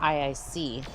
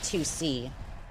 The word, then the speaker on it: IIC: actually just um this is just uh Jennifer IIC that I'm running or I guess uh Jennifer uh 2C as I've recently learned it's supposed to be pronounced but honestly I've been calling it IIC for a long time.